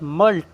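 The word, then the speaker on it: mulct: उसके बाद मल्ट। यहां पर सी साइलेंट है।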